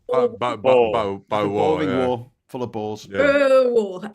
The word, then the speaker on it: Boer: You think it's different, Graham, but it's Boer War. Boer War full of balls.